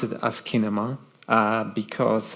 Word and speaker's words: asciinema: out and um there all variations of of pronunciation of of this um as Cinema no not really um ASA yeah um well someone said I've always pronounced it asema not really so yeah um I pronounce it